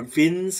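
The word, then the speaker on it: Wien: to the textbook for vince displacement law i think it was an austrian guy that's why i'm saying vin that's the correct pronunciation that win so beans displacement let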